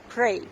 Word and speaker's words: prey: Prey. P-R-E-Y. Prey. Это хищники. Птушки-хищники. А prey произносится, это амоним со словом молиться. И молитвы P-R-A-Y. Pray.